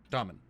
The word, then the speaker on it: Tormund: Tormund. Yeah, pronounced in Dwarvish, Tom.